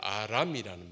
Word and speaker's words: 아람: 아랍이 아닙니다. 아람이라는 말입니다.